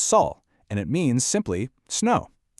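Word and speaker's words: 雪: In Korean, it's pronounced Saul, and it means simply snow.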